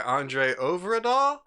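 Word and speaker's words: André Øvredal: This is actually directed by Andre Overdahl, I believe it is pronounced, and it's executive produced by Guillermo del Toro.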